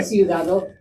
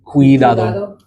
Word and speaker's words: cuidado: And there's that hard C sound, just like how we would have, think like cumin, like the seasoning cumin, cuidado. So that C carries the same pronunciation there.